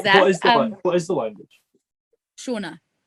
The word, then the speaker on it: Shona: Shona. Say that again. Shona. It's like the Scottish name Shona.